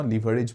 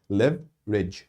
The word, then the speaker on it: leverage: leverage আছে বুলি কয় ইংৰাজীত লিভাৰ বুলি নপঢ়িব লিভাৰেজ বুলি নপঢ়িব আৰু লেভাৰেজ বুলি নপঢ়িব leverage এটা pronunciation শুনি লওক leverage ঠিক আছে leverage বুলি পঢ়িব clear so these are তাৰমানে